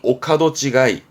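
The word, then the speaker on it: 御門違い: 발음은 오카도 찌가이.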